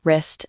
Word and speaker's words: wrist: The silent W before an R. words like right, wrong, wrist, and wreck.